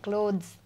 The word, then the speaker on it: clothes: या सो इट्स और क्लॉथ्स का प्रोनंसिएशन भी अलग है. इसमें लास्ट में एस आता है लेकिन ये एस नहीं है. असल में इसको ज सब प्रोनाउंस करते हैं, क्लॉथ्स.